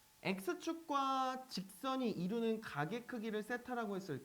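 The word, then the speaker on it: θ: 쟤는 세타라고 읽으시면 돼요.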